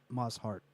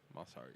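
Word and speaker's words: Mosshart: Because Alison Mozart is Moss Hart. I think that's how you say her name. Mossart, yeah. Moss Hart.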